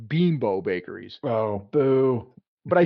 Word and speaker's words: Bimbo: funny about that that is basically what a bimbo is yeah um now I what I did